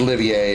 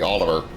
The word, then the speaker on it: Olivier: know I know it's they pronounce it Olivier and it's just I I I naturally forget to give it the AA sound I just say Oliver not a bad view